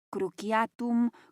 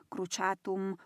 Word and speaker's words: cruciatum: Es Viscum cruciatum, cruchatum, cruciatum, según como quieras pronunciarlo. Pero es que no son los únicos.